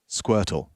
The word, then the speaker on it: Squirtle: you do Squirtle Squirtle how do you actually say it Squirtle you see how I pronounced all the letters in the word you didn't really pronounce it you just gave it a little extra oomph Squirtle hey man have